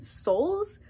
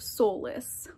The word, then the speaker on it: Solis: While I was editing, I realized that I mispronounced the Kingdom of Solace. I was pronouncing it Souls, but it is the Kingdom of Solace.